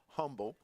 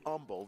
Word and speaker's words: Humble: It's not Humble, it's Humble. The H is silent.